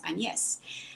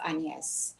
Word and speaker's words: AnYes: hate agnes i love anies so one day an american coach introduced me in writing and she wrote between brackets to be pronounced a and hyphen yes and i thought oh